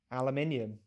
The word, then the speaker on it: aluminium: how i would say it in my accent aluminium aluminium is not it's not wrong okay uh